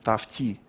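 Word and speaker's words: Tufte: T-U-F-T-E пишется. Тафти.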